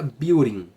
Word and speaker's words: building: building building em inglês esse D fica praticamente som de inglês americano né fica praticamente som de R fica building tá mas se você